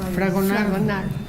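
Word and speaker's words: Fragonard: ¿Cómo se pronuncia? Fragonar.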